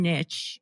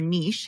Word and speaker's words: niche: Like it's not just one niche or niche, however you want to pronounce it, because they actually have a lot of different preferences and behaviors.